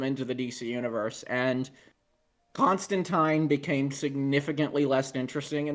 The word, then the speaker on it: Constantine: so one of us could do Constantine. Tyne. Yes, I'm a fucking nerd. I say that's technically how it's supposed to be pronounced.